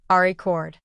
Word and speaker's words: record: In English, the noun record is stressed on the first syllable. Ari cord.